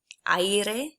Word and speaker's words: aire: Aire. People find this one tricky, but if we break it down, you've got a, I, and then e. Put that all together, aire.